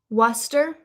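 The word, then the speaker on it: Worcester: Worester. Worester. Well, you guys would say Worester because you guys don't really pronounce the R.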